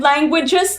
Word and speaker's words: languages: Oh, okay, you brought up the word languages. Like, that's a word that has two different ways of pronouncing the letter G. The first G is like G, and then the second G is like J.